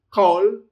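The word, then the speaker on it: כֹּל: The kaf does have the dagesh lene, so it's a hard k sound, not ch as kol, kol.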